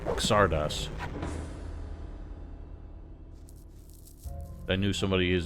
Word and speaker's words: Xardas: How Zardos is pronounced in the Polish version. Interesting. I did not know that. I know some people would probably try and call him Xardas.